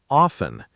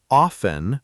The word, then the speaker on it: often: Some say often with a silent T and some say often with the T pronounced. Both are fine, but the silent T version is more common in natural speech.